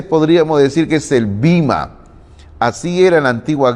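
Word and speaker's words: βῆμα: Es bueno recordar que la expresión tribunal viene del griego bima. Algunos a veces dicen bema, pero más ahí me gusta pronunciar bima, que también es válida, cualquiera de las dos formas de pronunciarlo.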